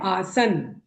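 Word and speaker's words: आसन्: देखिए पहले क्योंकि आप इसका शुद्ध उच्चारण कीजिए ये है आसन न में हलंत है न आप पूरा नहीं बोलेंगे कितना अंतर हो जाएगा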